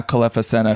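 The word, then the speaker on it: Kelefa Sanneh: Even though now Kalefa Sena, who popularized the term, well is now pronounced, by the way.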